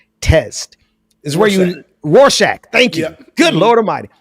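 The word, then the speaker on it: Rorschach: remember uh the the war I can't even pronounce. What's that? The Rostat somebody Warsack test is where you Roshack.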